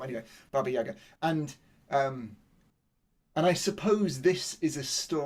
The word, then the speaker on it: Baba Yaga: Faye's already done a great job of introducing you to Baba Yaga, and I have to pronounce it in the trochaic form. Anyway, Baba Yaga, and I suppose this